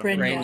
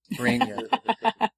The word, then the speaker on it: Bregna: at one point, but Bregna, yeah, it's like the Italian pronunciation. Bregna. So I was going to go with Bregna, but if people vote Bregna, I can. I think it's Bregna.